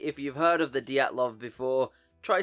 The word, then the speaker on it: Dyatlov: the Diatlov before, try saying it out loud right now with me. Diatlov. If you nailed it, congratulations. You're in the club. If not, don't worry because even the Russians can't agree how to pronounce it either.